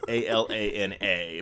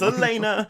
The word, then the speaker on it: Alana: together it is spelled a l a n a but it is pronounced Elena because yes up until I heard someone say it I was reading Alana it is Elena okay it's like come